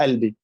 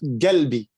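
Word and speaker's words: قلبي: Essa é uma mania do povo do Cairo, pronunciar Albi. O Saída, eu, por exemplo, quando eu era criança, falava Galbi. Não A.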